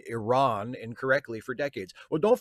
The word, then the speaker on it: Iran: I used to say Iran, so don't feel too bad. But, you know, once I learned that actually Iran is the preferred pronunciation, like, okay, I'll say it that way.